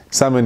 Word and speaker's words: Salmon: Salmon is like the fish.